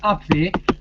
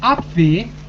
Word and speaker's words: Abwehr: So in the German Abwehr, it's pronounced Abwehr, but it's spelled A-B-W-E-H-R.